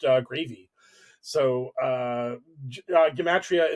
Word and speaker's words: gematria: gravy so uh uh gematria in this sense is literally just uh that's pronounced yamatria it's just it's just wish